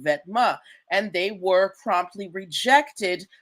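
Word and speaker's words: Vetements: This word vetma or vetiments as as Americans like to pronounce it means clothing in French.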